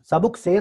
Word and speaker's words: سبک سیر: ہے اور سبک سیر، اس کا اصل تلفظ کیا ہے؟ سبک سیر ہے، بہت تیزی سے آ رہا ہے، وہ آپ کو لے کے چلا جائے گا پورا ریلا.